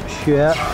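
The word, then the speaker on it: 雪: It's pronounced xue.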